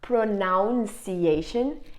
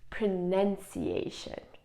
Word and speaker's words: pronunciation: hear you from here saying it wrong it's not pronunciation it's pronunciation pronunciation okay so every time I'm gonna give